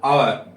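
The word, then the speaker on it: hour: एच क्या रहेगा silent जैसे इस पर लेंगे एच ओ यू आर एच ओ यू आर और इसको क्या बोलोगे और क्या बोलोगे और यहां प एच का प्रन नहीं होगा इस बात का भी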